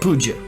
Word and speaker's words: puja: It's called puja.